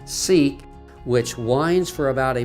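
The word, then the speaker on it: Siq: a narrow crevice called the sick or pronounced seek which winds for about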